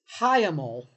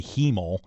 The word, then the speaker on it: hiemal: Uh it's h i e m a l. I thought it was going to be heemal, and I don't like that, either.